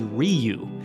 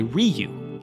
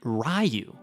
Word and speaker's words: Ryu: correctly the name I believe in Japanese is Ryu and he was supposed to say Ryu in the film but he kept pronouncing it rayu and so the director at one point was